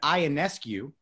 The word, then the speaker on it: Ionescu: And it is Ionescu. Ionescu, I can never get it right.